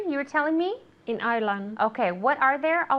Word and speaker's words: Ireland: Ireland. Yeah, the D at the end, okay?